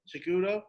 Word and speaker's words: Cejudo: Henry Cejudo.